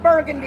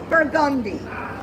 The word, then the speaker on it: Burgundy: It is not Burgundy, it is pronounced Burgundy.